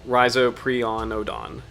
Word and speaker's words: Rhizoprionodon: So it's like rhizoprionodon. Rhizoprionodon. So it's like there's no strangeness with the letters or no weird pronunciation rules.